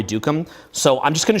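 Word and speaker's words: Duqum: I don't think I'm pronouncing his name properly, but it's Andre Dukum. It's like D-U-Q-U-M, Andre Dukum.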